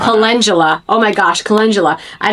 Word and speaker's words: calendula: I've heard people say it like that, it makes me chuckle cuz it looks like it's spelled calendula, Mhm. but it's actually um calendula Mhm.